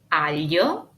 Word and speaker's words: aglio: The first sound is the combination of G and L. It sounds like this, y. A trick to help the pronunciation is to smile wide. It is similar to the double L in French or Spanish in words like fille or famille or paella. Y, aglio, tagliatelle. G combined with N is gn.